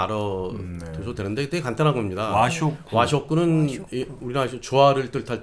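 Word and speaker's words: 和食: 와쇼쿠. 와쇼쿠는 와쇼쿠. 우리나라 조화를 뜻할 때 한자 화인데 예. 그걸 이제 일본어로는 와라고 읽는데 와쇼쿠는 쉽게 말해서 우리가 한식 같은 겁니다.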